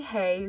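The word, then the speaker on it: hej: I find it so funny that hey is spelled with a J when it's literally pronounced the exact same as English with the Y.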